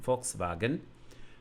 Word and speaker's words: Volkswagen: And we see that even the letter V in German is a F sound, as in Volkswagen.